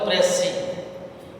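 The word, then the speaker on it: précis: So Pressy, P-R-E-C-I-S, the pronunciation is Pressy, requires one third word of the original passage, but summary doesn't have any fixed length.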